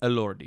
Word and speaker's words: Elordi: Jacob, I can't pronounce his last name. Elordi.